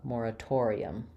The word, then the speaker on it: moratorium: a Tor torum um start on the stress syllable to build this torium Mora moratorium so you see how